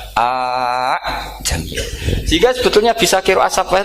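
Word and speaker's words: ءَأَعْجَمِيٌّ: hamzah kedua balungan kali, harusnya bacanya a jamiyun. Tapi ada, ya, tapi ini dua hamzah jejer, normalnya diidghamkan a jamiyun.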